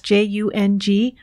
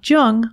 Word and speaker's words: Jung: Alexa, play Speaking of Jung on Apple Podcasts. Just be sure to pronounce Jung with a hard J.